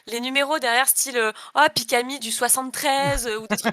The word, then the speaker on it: xPikami: avec le X devant pourquoi le X ne se prononce pas pourquoi pikami vas-y explique-moi un petit